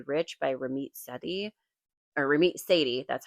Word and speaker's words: Ramit Sethi: Um, if you have not read I Will Teach You to Be Rich by Ramit Sethi or Ramit Sethi, that's how you say it.